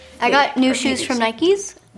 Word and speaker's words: Nike: I got new shoes from Nikes. Nikes, I said.